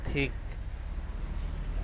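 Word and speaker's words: thick: এরপর আমরা দেখি যেখানে টিএইচ এর উচ্চারণ হয় মতো হয়, যেমন টিএস আইএনকে, এটার উচ্চারণ হবে থিক। এখানে টিএইচ এর উচ্চারণ হবে থয়ের মতো।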